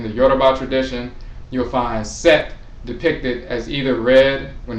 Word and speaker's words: Set: T which is pronounced that particular C is like the C in the English cell phone. So it's pronounced set. But there's also a pronunciation of soot.